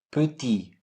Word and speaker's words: petit: Un petit fauteuil, petit, silent T.